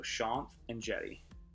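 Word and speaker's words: Shanth Enjeti: that name is pronounced it's Sean as in Sean so Sean and jetty I've had so many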